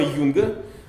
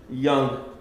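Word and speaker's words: Young: честь математика по фамилии Ян. Почему-то его на русский обычно всегда транскрибируют как Юнг. Но, в общем, ну это здесь, но он англичанин, поэтому произносится он, конечно, как Ян.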